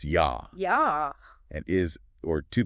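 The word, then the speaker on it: я: And then Russian in Russian I is pronounced yah.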